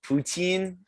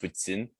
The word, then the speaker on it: poutine: quebec which is pronounced putzin with a little like quebecois accent and like so the